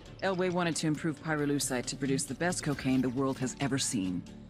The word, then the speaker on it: pyrolucite: You know what pyrolucite is, right? Yeah, neither did I. Pyrolucite, key syllable pyro, by the way, is the shit they mine in Villa Verde province to turn coca leaves into high-quality cocaine.